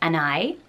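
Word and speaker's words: Anaïs: beautiful pretty as name but some people also pronounce it just and I without the strong s at the end and people say that is how you're supposed to pronounce it people on forums who cool that say they that's my name this is how I spell it but I say and I and the S should be silent so can anyone clear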